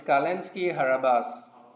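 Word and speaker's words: Calinski-Harabasz: No, it's Kalinski Harabas.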